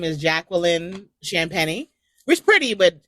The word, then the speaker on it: Champagny: which is pretty, but Champagny is spelled like champagne, but there's an I between the N and the E. And this is what I have to go through all the time, like since kindergarten. Everyone says champagne, champagne. They all say it wrong.